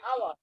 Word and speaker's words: hour: It is we use an before this word because the pronunciation of our HU or is not like a hour. It is the pronunciation is hour. And Yes, O yes. is sound of a vowel.